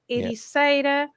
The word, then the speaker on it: Ericeira: The way you pronounce it is A. So, yes, it's always A, like Ericeira, Madeira, Peixe, yeah, Okay.